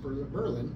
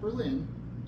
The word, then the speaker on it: Berlin: 49 and 91 the city of Berlin it's pronounced Berlin not Berlin and that is important to our local residents